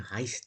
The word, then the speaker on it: heißt: That letter there. Heißt that looks like a B, capital B, but I think it's like a S if I remember.